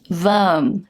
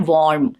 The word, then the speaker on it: worm: Worm, not warm. No warm. Worm. Keep it simple. Worm. And a few last ones on the list.